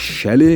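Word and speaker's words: chalet: खूबसूरत नज़ारे, और ये हैं वो आलीशान चैलेट्स जिनको लोग शैले where the टी is silent बोलते हैं।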